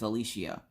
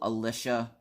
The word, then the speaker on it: Alishia: And people will struggle, and they're like, oh, Alicia, and I'm like, there's no C in there.